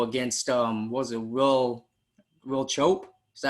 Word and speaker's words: Will Chope: saw your video against um was it will will chope is that how you say his name yes